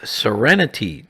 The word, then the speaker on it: SerenT: This was rebranded as SerenT 200, pronounced like the word serenity, a good choice.